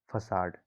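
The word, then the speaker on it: façade: Next है फसाड। इसकी जो स्पेलिंग है वो FACADE है, इसको पढ़ते हैं फसाड।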